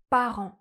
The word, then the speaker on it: parents: In French, we have an /a/ sound .